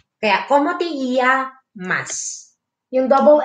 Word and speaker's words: llamas: Tapos, ang double L is sounds like ye. Kaya, como te llamas?